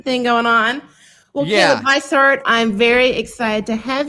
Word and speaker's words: Beissert: It's Beissert. It's French German though. So yeah. Okay. I was like, there's a European thing going on. Well, Caleb Beissert, I'm very excited to have you here.